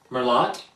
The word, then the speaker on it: Merlot: Merlot? Oh, it's Merlot. I'm so dreadfully embarrassed. How dare I pronounce that T?